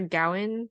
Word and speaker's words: Gawain: And Sir is it Sir Gawain?